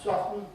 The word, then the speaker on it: softened: right good evening i've softened it again actually with the wood softened i've hardly ever heard anybody put the tea in they are eccentric because